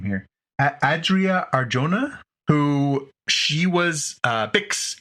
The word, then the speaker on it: Adria Arjona: and the love interest in this is uh Arya Arjona I I'm sorry I'm sure not saying her name right um yeah how do you say her name here Adria Arjona who she was uh Bix in Andor so